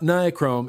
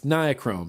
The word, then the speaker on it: nichrome: I pronounce nichrome wrong. Everyone says it's not nichrome, it's nichrome. And I feel like I'm saying it right, but evidently all I do is say it wrong.